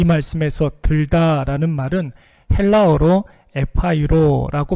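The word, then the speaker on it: ἐπαίρω: 이 말씀에서 들다라는 말은 헬라어로 에파이로라고 발음을 하는데 정확히 말하면 들어 올렸다라는 뜻이 있습니다.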